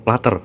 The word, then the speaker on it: platter: Sorry teman-teman, aku tadi salah pengucapan ya, bukan plotter, platter ya, namanya platter ya, platter tuh kan.